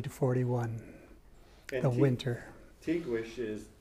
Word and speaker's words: Tiguex: The Tiwish War was 1540 to 41. And the winter. Tiguex is T-I-G-U-E-X. That's right. It's a 16th century Spanish pronunciation of those letters.